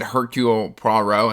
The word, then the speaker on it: Hercule: um like I said Hercule pro row I said the last name correct and then I got like I got a bunch of comments like you don't pronounce the h i can't get it